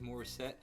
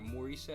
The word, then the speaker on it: Morissette: really enjoying doing these more set or maurice actually i think if i've heard her pronounce it a reaction breakdown she's